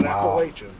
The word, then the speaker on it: Appalachian: brother jimy appreciate it pronounced appalachin oh yes not appalachin it's appalachin now is that Regional or is that just a fact that's it's regional for us they'll get real pissed